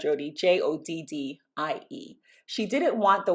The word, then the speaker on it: Joddie: I've always just been called Joddie, pronounced just Joddie. And I guess if I had to phonetically spell that, it would be Jodee.